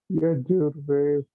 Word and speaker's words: Yajur: I am also the Mataji, how will pronounce that? That is Rig, Sama, and Yajur Vedas.